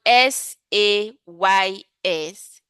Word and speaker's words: says: The pronunciation changed to says.